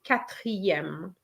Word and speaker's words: quatrième: to show you that the E of quatre is going to be removed. We're just going to say quatrième. Okay, so the E, the final E of quatre is silent. So just let's get rid of it and put yem, quatrième.